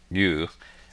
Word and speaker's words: eu: EU, pronounced you, is a Greek root that means good.